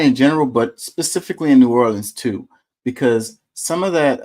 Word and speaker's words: New Orleans: she had me in until she actually said New Orleans is exactly how people not from here think we sound saying it norleans that's the how they say it nor Orleans